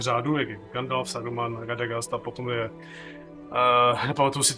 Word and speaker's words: Radagast: Já vím, že to je Radagast, je to Radagast, že jo, ale... Jo, ale vyslovuje se to jako dost, ani ještě se vyslovuje jako Radagast.